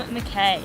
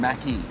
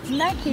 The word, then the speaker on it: MacKay: No, my family are a bunch of retards and can't pronounce the Oh word my god, correctly. I'm so sorry. Okay, No, Mackie. it should be Mackay Sorry.